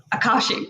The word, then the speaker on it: Akashic: However, when I looked at when she explained that how do I pronounce that? Akashic? Akashic.